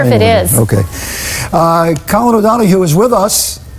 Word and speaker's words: O'Donoghue: Colin O'Donoghue is with us. O'Donoghue.